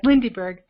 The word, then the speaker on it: Lindyberg: Yes, Lindyberg.